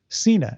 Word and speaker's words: Cena: cena vehicle called peacemaker cena it rhymes with peace maker it does no matter